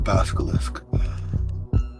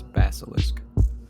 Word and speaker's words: basilisk: after running into a basalisk is it basalisk or basilisk I think it's basilisk okay I've been saying it wrong this whole time aari definitely think it's